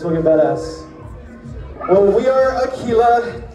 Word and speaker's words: Aquila: Well, we are Aquila, not to be confused with Aguila, which means Spanish, in Spanish it's eagle, right? No, it's Aquila with a Q.